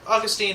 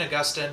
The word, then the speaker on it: Augustine: yeah yeah I think yeah I guess yeah Augustine Augustine tomato tomato potato potato whatever but I pronounce it disgusting I think Augustine would be